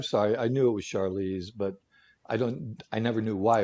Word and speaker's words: Charlize: Charlene Theron, is that how you say this? Charlene Theron? How do you pronounce Charlize. I think it's Charlize? Charlize.